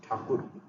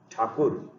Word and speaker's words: Thakur: Rabindranath Tagore was originally known as Rabindranath Thakur. The British people could not pronounce Thakur word properly, so they mispronounced Thakur as Tagore, and from those days it became Tagore.